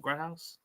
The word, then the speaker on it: Grodhaus: devonport safety cam Grouse is that how you pronounce it gr house yes sir yep gr house oh yeah how's